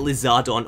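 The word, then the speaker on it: リザードン: build I'm talking about lizardon or otherwise known as Charizard now lizardon is actually how you pronounce in Japanese if you want to say Charizard and this is so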